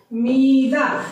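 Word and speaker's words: మీద: कहते हैं तेलुगु में, मीदा। तो फ्रेंड्स, मीदा यहाँ पे लिखा हुआ है, तेलुगु में लिखा रहेगा तो मीदा ही रहेगा, लेकिन आकारांश प्रोनाउंस करते हैं इसीलिए उसे मीदा कहेंगे।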